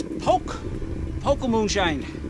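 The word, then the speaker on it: Poke-O-Moonshine: I mispronounced the name wrong of the mountain. It's Poke Moonshine. I got Peekamoo on the brain from the Catskills.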